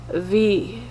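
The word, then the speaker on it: Visine: would just use some Vicine. And in German you would pronounce the V also different. You would say Vicine.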